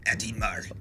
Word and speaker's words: Audemars: Audemars.